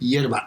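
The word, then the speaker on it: hierba: Yerba. Yerba? H-I-E-R-B-A. So it's like herb with an I inside. Except the H is silent.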